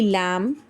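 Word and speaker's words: lamb: Similarly MB की sound में, चाहे आपको बीच में मिले चाहे आपको एंड में मिले, हमने B को साइलेंट कर देना, B की साउंड लानी ही नहीं है। दिस विल बी लैम, भेड़ का बच्चा जो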